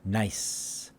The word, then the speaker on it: nice: There's no E ending at the end. It's just a S in nice, nice. That's all we're hearing. Nice. There's only one vowel sound in this word, and that makes it one syllable.